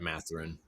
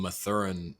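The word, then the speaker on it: Mathurin: Benedict I don't know how do you say his last name math they're in is that matherine yeah I was calling him matheran all throughout the draft process I had heard that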